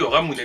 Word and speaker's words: Ramune: Ça s'écrit Ramune et ça se dit Ramune normalement. Si je me trompe pas.